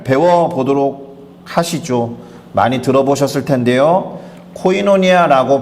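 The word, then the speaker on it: κοινωνία: 코이노니아라고 발음되는 이 단어입니다.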